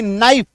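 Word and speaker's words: knife: Fine, आ और ई, के एन आई एफ ई, नाइफ, आ ई। अच्छा, के के बारे में यहां पे बता दूं कि जो के है ये साइलेंट है।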